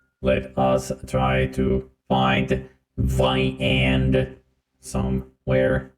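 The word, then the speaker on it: viande: Let us try to find viand somewhere. That is how you pronounce the word for meat, which is viand.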